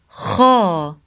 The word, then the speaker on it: خ: Kha sound is pronounced from top throat. So it's the throat letter. It's not from the tongue, far tongue like ka sound. It's not ka, it's kha, kha, kha, deeper.